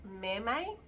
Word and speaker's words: Mome: The blouse is spelled M-O-M-E, but I think it's pronounced Maymay. Anyway, it's got so many different variations.